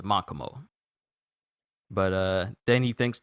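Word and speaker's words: Makomo: crumbles to nothing and i think i may have said uh makamo's name wrong i said mokomos but it was makamo but uh then he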